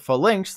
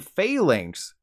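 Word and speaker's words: Falinks: was cool and I called it full links like I guess but the Pokemon company knew I'd do that and decided to make the official name Phalanx like Fey that girl in high school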